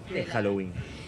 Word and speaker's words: Halloween: día de los muertos Halloween Así es la pronunciación Halloween es una fiesta Celta una Fiesta pagana originalmente